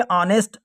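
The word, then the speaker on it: honest: ऑनेस्ट बॉय लिख दिया यहां पे ऑनेस्ट मतलब यहां पे जो एच है वो साइलेंट है आ तो यहां पर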